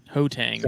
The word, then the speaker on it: Gauteng: Hotang is what it's he's Gauteng.